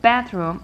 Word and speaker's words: bathroom: is a compound word we stress the first part because it's in noun I say bathroom I don't say room